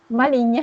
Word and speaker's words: maligne: Maligne. Maligne. Maligne pour les féminins. Maligne. Super, parce qu'on garde la ligne. La ligne, c'est pour ça.